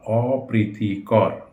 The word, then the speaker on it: অপ্রীতিকর: অপ্রীতিকর, অপ্রীতিকর না, অপ্রীতিকর। অপ্রীতিকর পটা 1.5 বার বা 2 বার উচ্চারিত হবে না, একবারই উচ্চারিত হবে।